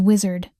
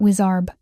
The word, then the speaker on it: wizard: It is wizard, not wizarb.